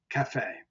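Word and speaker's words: caffè: when um and then when the last syllable is accented we put this accent mark As in Cafe Cafe okay so that's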